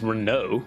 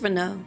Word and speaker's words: Renault: I heard him pronounce that name as Renault, which is cursed. Yeah, it is Renault.